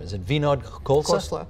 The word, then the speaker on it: Khosla: However, the co-founder of Sun Microsystems, I don't know how to say his name, is it Vinod Khosla? Khosla.